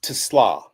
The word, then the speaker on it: TeSlaa: I want to make sure I'm getting the pronunciation right on this guy. Isaac Teslaa? It's Teslaa. Teslaa.